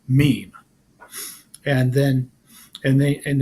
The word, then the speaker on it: meme: m or to it it should be pronounced to rhyme with cream Meme and then and they